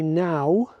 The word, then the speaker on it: Knowe: On the top of that small wooded knoll called Abbey Now, and it's spelt Knowe, is an ancient burial ground.